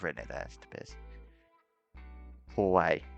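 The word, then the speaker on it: 怖い: Hawaii. Now, this is also important to pronounce the core. Pronounce the core bit much louder than kawaii, because of course kawaii means cute and kawaii means scary.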